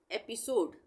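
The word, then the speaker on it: episode: हम समझ लेते हैं ये है ई पी आई एस ओ डी ई एपिसोड इसको हम पढ़ेंगे एपिसोड ये लिखा है मैंने एपिसोड ए का उच्चारण हो रहा है यहां पे इ ई के लिए ए का उच्चारण हो रहा है एपिसोड क्यों हो रहा है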